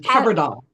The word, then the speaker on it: Kebrdle: name again yeah it's always a good one card doll CLL CLL yeah you got it okay we